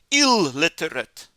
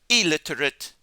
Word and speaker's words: illiterate: illegal, illeible, illiterate, illogical. So many students see that double L and they say ill, illegal, illiterate, illogical. But it's illegal, illiterate, illogical.